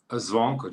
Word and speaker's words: Zvonko: How do you pronounce your name, firstly? Zvonko, just like how you did.